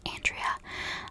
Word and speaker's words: Aundria: out by the way I'm not mispronouncing Andrea um it's spelled a u n d r i a and I hope that I'm pronouncing her name right because obviously she deserves